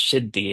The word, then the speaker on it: siddhi: Then there's this word siddhi in Sanskrit which is pronounced shiddi in Bangla which means accomplishment, attainment, special power.